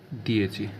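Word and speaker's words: dieci: जाता है ची डी आई ई सी आईएच दिए दिए मतलब होता है 10 ठीक है दोस्तों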